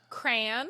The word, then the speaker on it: crayon: You can either say crayon like me, which is weird. Also, crown, which is cool, like John, or crayon. Or how do you say it? You say crayon like a normal person.